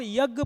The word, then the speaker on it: यज्ञ: आई आधे ज की इसलिए जब हम यज्ञ पढ़ते हैं तो यज्ञ में सबसे पह य ज्ञ में सबसे पहले ध्वनि किसकी आती है ज की इसलिए जो शुद्ध उच्चारण है वो यज है जो ज्ञ है उसका शुद्ध उच्चारण क्या है यज यानी ज की ध्वनि पहले निकलती है इसलिए यज और इसको